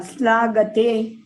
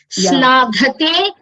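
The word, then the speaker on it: श्लाघते: The gha is Mahaprana and you're pronouncing it as Alpa Prana.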